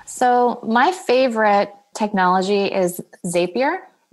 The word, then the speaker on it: Zapier: you say the name again and how you spell it zapier z a p i e r zapier oh got it okay goodness well I